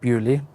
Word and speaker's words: Beaulieu: going to go to beaulieu Castle I think that's how you pronounce it um it's spelled bolu but pronounced bewley whatever and we're going